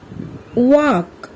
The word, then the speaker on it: walk: থাকে শব্দবিলাক হ'ল কাম here L is silent palm half walk talk should good what have you seen in these words here also L remains silent calf chalk fork almond